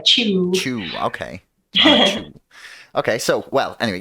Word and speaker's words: Chiu: here with uh chui uh and i really hope actually now that we've talked about that i have pronounced that correctly um it's actually rhymes with pew like chew okay okay so well